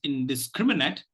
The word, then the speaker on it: indiscriminate: for today it is indiscriminate and obviously the the the the stress syllable the primary stress syllable is on scrim and the secondary stress syllable is on is